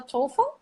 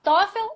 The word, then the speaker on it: TOEFL: Então, assim, tanto faz falar TOEFL, ou falar TOEFL, ou falar TOEFL, e tá tudo certo, depende de onde você é, e você pronuncia com O importante, o importante é ir bem na prova, né?